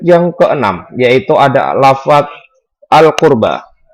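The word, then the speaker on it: القربى: Untuk tajwid yang keenam, yaitu ada lafaz al-qurba. Hukum bacanya adalah al-qamariyah, karena ada huruf al-ta'rif bertemu dengan huruf qaf. Qaf termasuk huruf qamari, dan cara membacanya harus terang dan jelas.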